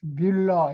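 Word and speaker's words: Müller: 그 유에 이 위에 점 2개 있는 걸 우물아우트라고 하는데, 그 위 이렇게 발음으로 읽어요. 그래서 뮬러 이렇게 읽는데 그건 독일 이름이란 말이죠.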